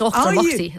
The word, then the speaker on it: Auchtermuchty: It's Auchtermuchty.